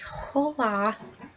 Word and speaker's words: hola: H you don't say you don't pronounce the h i always screw it up so it's not Ola right it's hola it's Smo obviously worst